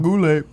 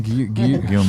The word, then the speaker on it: Guillaume: Robert Goulet. No, Gallman. Guillaume. Guillaume.